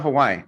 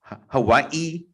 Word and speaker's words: Hawaii: like, well, what about Hawaii? I sometimes I don't want to give the energy to say like Hawaii, you got to pause.